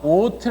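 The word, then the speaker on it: אות: 왜 오트 라고 할까요 얘는 묵음 이라고 했지요 소리가 안납니다 소리가 안나요 그리고 이 바부 위에다가 점을 찍으면 애가 5 발음이나 요기 뭐 발음이 나요 그리고 이 파 분은 t 발음이 나지요 그래서 이거를 o 트라고 이거 오트 아 부트 가 아니라 ot 라고 했습니다 ot 이것은 성경에서 일은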